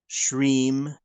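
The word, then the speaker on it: श्रीं: So the mantra is pronounced Hreem, Shreem, Kleem, Parameshvari, Svaha.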